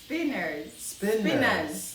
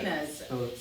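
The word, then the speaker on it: Spinnaz: name of, but you do, and it is Spinners. How do we spell that? Spinners.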